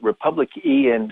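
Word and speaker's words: RepublicEn: executive director of am i pronouncing it right republic in dot org yes yes good to be with you oh yeah we call it republic ian org so people can find it on google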